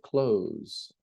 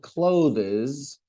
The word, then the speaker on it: clothes: Nina has lots of clothes. Not clothes.